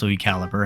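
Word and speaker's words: LuiCalibre: second to highest in b the squeaker himself Louis calibri now it's pronounced Louis caliber and I know that Louis he's a funny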